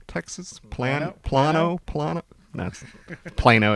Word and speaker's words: Plano: very nice A little plant now yes might pronounce this for me Plano Texas planet planno planet that's Plano it's just chemistry for us uh Houston Texas